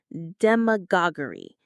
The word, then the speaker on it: demagoguery: Demagoguery. The stress is on that go syllable.